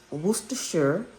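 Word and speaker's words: Worcestershire: And worsta is the name of a English um city and shore it's pronounced shore is the county. So it's city is worshure is the city and county in England.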